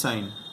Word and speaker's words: sine: In English it's pronounced sine. So you'll say, in English you'll say cos alpha, sine alpha.